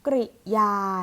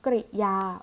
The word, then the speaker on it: กริยา: มี คำ มี คำ กริยา นะ คะ ค่ะ มิ อ่าน ออก เสียง ว่า คำ กริยา เรา จะ ไม่ อ่าน ออก เสียง ว่า คำ กิริยา นะ คะ ถ้า เกิด ว่า เป็น